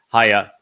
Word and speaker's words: haya: Haya explains how to pronounce the he and also the yod in Yahowah's name. It is he, yod, he, and it is pronounced haya.